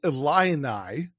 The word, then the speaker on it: Illini: We have the Fighting Illini.